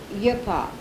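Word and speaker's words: uppowoc: his crude fields of hip-hop repeat that word as the indians with the accent on the last syllable and it sounds a little like tobacco it was tobacco it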